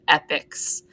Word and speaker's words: epoch: is broken up into epics that word epoch is pronounced epic um it is important